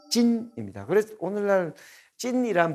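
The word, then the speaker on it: 晉: 근데 중국어는 서쪽의 진은 친, 이렇게 친 발음이 나고요. 동쪽의 진은 찐입니다.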